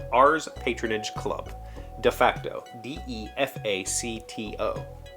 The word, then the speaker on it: de facto: D-E-F-A-C-T-O. The pronunciation guide in here says de facto. I've never heard anybody pronounce it with a long E.